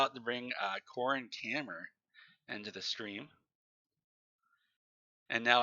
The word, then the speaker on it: Kammer: Kammer is like a German word for chamber.